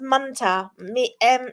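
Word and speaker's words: munter: part of that, but it's pronounced munta. Like munta. I don't know what moon is. Yeah, it would have an ER sound, but the way that you're meant to say it slang wise, it sounds like it ends with an A.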